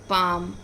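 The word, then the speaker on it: palm: different होता है जैसे बाम बाम पाम में हम एल का उच्चारण नहीं करते राइट एल हम क्या करते हैं साइलेंट पढ़ते हैं तो बाम पाम गेट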